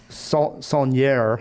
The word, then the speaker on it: Saulnier: So this is the director is looking up Jeremy right Saulnier, I believe is how you say it.